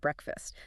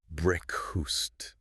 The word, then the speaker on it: breakfast: the night before, but we don't pronounce it breakfast. The second half of the word gets swallowed. Yes, it really does. The vowel in fast becomes what linguists call a schwa. It's very lazy, relaxed sound. Breakfast. Breast. The emphasis is entirely on the first syllable.